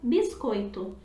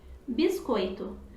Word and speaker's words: biscoito: errado são apenas diferentes um exemplo rápido de sotaque é por exemplo na palavra biscoito em muitas regiões do Brasil e pronunciado assim como acabei de dizer biscoito mas algumas pessoas no Rio de Janeiro por exemplo anunciam biscoito biscoito biscoito aqui a gente tem